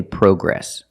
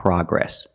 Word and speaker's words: progress: progress that's right Lucy In America we say progress we don't say progress the American pronunciation is Pro progress with a short a sound like hot and stop progress let's hear that last